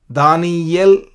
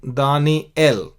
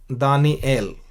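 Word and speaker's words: דניאל: दानियल Hindi में, लेकिन दानिएल, या नहीं लेकिन एल, दानिएल। हिंदी में दीर्घ नहीं है,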